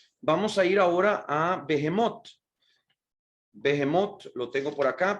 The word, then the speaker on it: Behemot: y quiero pues no dejar de hablar de behemot Pero por eso no quiero dejar de mencionar